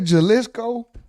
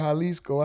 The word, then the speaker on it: Jalisco: Did I say Jaliscoco? I said it's called Halisco. I said Jaliscoco. And I know the J is pronounced as a H.